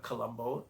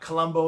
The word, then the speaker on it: Colombo: Now, Colombo is spelled like the city in Sri Lanka, Colombo, Colombo. Not Colombo like the detective that Peter Falk played, Lieutenant Colombo.